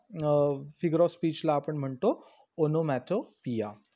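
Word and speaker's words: onomatopoeia: घेतो तेव्हा त्या फिगर ऑफ स्पीचला आपण म्हणतो ओनोमॅटो पिया सो हा जो ओनोमेटोपिया हा अलंकार आहे ओनोमोटोपिया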